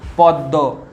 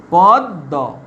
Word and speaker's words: পদ্ম: পদ্ম। এর উচ্চারণ কিরকম? পদ্ম। এর উচ্চারণ দেখে এটা উচ্চারণ পদ্ম। প দয় ম, দয়ের সঙ্গে আছে, তাই দটা দুবার উচ্চারণ হচ্ছে।